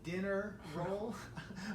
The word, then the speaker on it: Denneroll: So today we want to address the Denneroll, and which people sometimes call the dinner roll, or all kinds of different names, but it's spelled Denneroll, D-E-N-N-E-R-O-L-L.